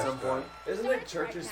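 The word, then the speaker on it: CHVRCHES: Isn't it churches spelled with like a She V just or said something? Yeah, Green Day. the U is a V. Yeah. So it's like churches or something It's like some that.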